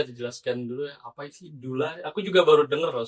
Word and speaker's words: doula: Nah, eh jadi Dula itu D O U L A ya. Jadi ada yang suka panggilnya daula du kan gitu ya. Jadi ee ya kita pronunciation-nya dula eh dula dari bahasa Yunani yang artinya sebetulnya woman servant.